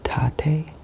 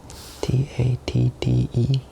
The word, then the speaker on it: Tatte: It's called Tatte, Tatte. I did not know how to pronounce it at first for a while, and that's obviously a common problem.